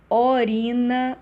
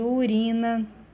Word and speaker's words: urina: Troca do U por O, né? Por se considerar que a pronúncia U é decorrente de fechamento indevido da vogal. Orina, ao invés de urina, enxurrada, comprimento, né?